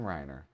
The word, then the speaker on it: Reiner: Reiner rhymes with Scott Steiner.